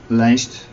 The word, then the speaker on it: lijst: Lijst pronounced.